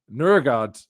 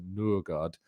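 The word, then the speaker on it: Nørgaard: name is Norard because Nurgard, if I'm pronouncing that correctly because the O obviously with the accent on it is a kind of sound. It's a like Urugard. It's a Nurard.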